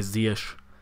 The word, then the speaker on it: Ziyech: Akurát, opäť som ho čítal zle, inak sa to vyslovuje Ziyech.